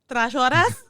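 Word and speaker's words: Trashorras: Trashoras is how you would pronounce that.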